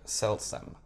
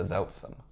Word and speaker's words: Seltsam: That first new build Divers Gundam is actually called the Seltsam Gundam, not the Zeltsam. Okay, can you once again clarify that difference for our viewers? S and Z. S and Z. Seltsam and Zeltsam. I guess you said it wrong.